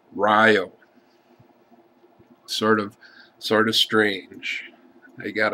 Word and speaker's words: Rio: I've wondered how many of you would pronounce it Rio. In Wisconsin, the town is named Rio.